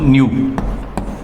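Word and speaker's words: ν: ये एक सिंबल रहता है इसको रिप्रेजेंट करने का, प्रोनाउंस करते हैं इसको न्यू, और मेजर करते हैं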